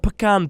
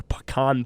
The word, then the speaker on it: pecan: You're saying it wrong. All right. Contrary to Chai's belief, this rankings is completely out of sorts. I would go pecan pie Pecan over pie. not pecan. Pecan pie.